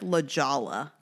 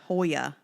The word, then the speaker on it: La Jolla: like near orange county it's spelled like la jala but i want to say it's the holy yeah hoya la hola i just